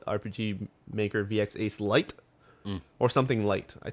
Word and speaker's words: RPG Maker VX Ace: thing that he made it in i totally mispronounced it last time but it's called rpg maker vx ace um which is actually strangely enough now available